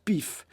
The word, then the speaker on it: PIF: du parti inertiste français ça s'écrit pif PF et ça se prononce pif le pif est le